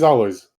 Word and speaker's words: Alojz: So in English, it should be Alois, for example, and then you should be able to pronounce it.